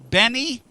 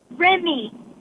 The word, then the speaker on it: Remy: Benny? Remy. Spell that for me.